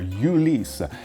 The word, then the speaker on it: Ulysse Nardin: Okay, next one is not that hard, Ulysse Nardin, but we often hear Ulysse, and that's quite normal, but yes, in French we say Ulysse, and concerning the Nardin name, well, it's not Nardine, which could be confusing